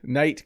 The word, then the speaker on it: knight: So in the word knight, I don't say the K.